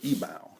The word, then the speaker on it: Yibao: and it's made from China it's called a ebal it's spelled y i b AO it's uh small